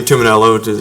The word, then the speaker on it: Tuminello: I didn't want to mispronounce your last name. It's phonetically spelled. Tuminello. See? Thank you. So obviously Yes. Last name Tuminello, you got that correct.